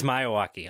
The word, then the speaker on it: Miyawaki: It's Miyawaki.